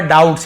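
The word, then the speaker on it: doubts: कर सकता है अवर डाउट्स यहां पर बी साइलेंट है तो बोला बोली वो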